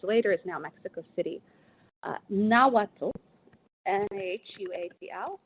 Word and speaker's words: Nahuatl: Nahuatl, N-A-H-U-A-T-L, Nahuatl, sometimes it's pronounced Nahuatl or Nahuatl, was the primary language spoken among the Mexica in central Mexico.